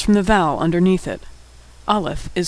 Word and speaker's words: Alef: Olaf is easy to pronounce. It's silent.